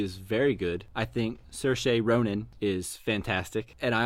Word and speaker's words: Saoirse: you say her name Ronan Sasha's ser che Saoirse Ronan or Saoirse Saoirse Ronan I thought she was really good Cersei